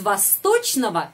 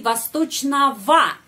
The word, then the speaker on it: восточного: Kita menulis восточного, tapi bacanya ava. Karena kita sudah tahu. Itu tradisi bahasa. Kita harus mengucapkan o seperti ava. Kenapa? Karena tradisi bahasa. Kalau kata sifat dalam genitif, diakhiri dengan ogo, kita mengucapkan ava.